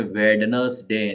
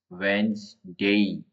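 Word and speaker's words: Wednesday: थम ब साइलेंट है अब इसमें वेडनेसडे ऐसे पढ़ो तो वेड नस डे ऐसे पढ़ा जा रहा है लेकिन यहां पे देखो वेन वेनसडे वेनसडे वेनसडे देखो ये ज दे रखा है यहां पे यहां पे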